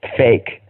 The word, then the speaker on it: PHEIC: And how do you pronounce that? Fake.